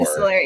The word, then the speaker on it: epistolary: So I had never heard the term epistolary novels. Did I say it right? yeah, Or- epistolary, yeah.